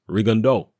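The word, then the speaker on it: Rigondeaux: Regan D out well it's a French name and as far as I'm aware the way it's pronounced in French is Regan doe essentially okay it's certainly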